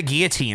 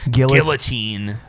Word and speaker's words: guillotine: say guillotine. Well, yeah. I mean, the double L is pronounced like a Y. Yeah, it's guillotine.